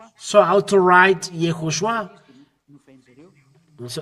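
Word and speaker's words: יהושע: Here it is Yehoshua or Yehoshua. It's Hebrew or wrote it. Hebrew study, transliteration, pronunciation, etymology, and grammar.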